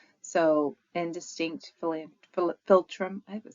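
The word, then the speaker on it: philtrum: So, indistinct filtrum.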